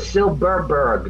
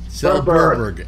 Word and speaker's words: Silberberg: That's like I got a friend whose name is Silberberg, not Silverberg, no V's, two B's. Silberberg.